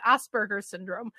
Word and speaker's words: Asperger's syndrome: i started pronouncing it asperger's syndrome instead of asperger syndrome because if i pronounce it asperger's syndrome then less people are like ass burgers i don't know why